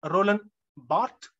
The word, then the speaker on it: Roland Barthes: roland barthe in french it is pronounced bhatt in english we say roland barthes